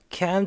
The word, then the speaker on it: can't: can't가 빨리 지나가니까는요. T 발음이 잘 안 들릴 수도 있습니다. 그래도 T까지 한번 내보려고 해보세요.